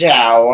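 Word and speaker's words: Zhou: I hear it like differently, like there's Zhao, Joe, or Zoe. It's Zhao, I know.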